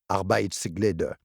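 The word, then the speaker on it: Arbejdsglæde: Commençons par apprendre à prononcer le mot Arbeitsglede. Croquez un gros morceau de pomme, coincez-le dans votre gorge et dites Arbeitsglede.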